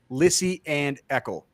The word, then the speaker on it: Lyssy and Eckel: The store is called Lissy and Eckel. Again, the store is called Lissy and Eckel. It's spelled Lyssy and Eckel, Eckel.